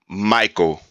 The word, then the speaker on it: Mikeauxl: Mikeauxl.